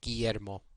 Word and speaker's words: Guillermo: in hinial or Ximena g-u however before E and I is as in Guillermo the U is silent and now for the